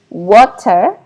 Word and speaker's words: water: American don't usually pronounce a t sound. Yeah. They pronouncing it as in between t and d. And this is what is called a flap. And this is the symbol. So instead of hearing the word water, yeah, you might probably hear water. Water. They pronounce it as water instead of water.